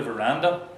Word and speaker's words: veranda: You have words like agenda, veranda, which are also penultimate.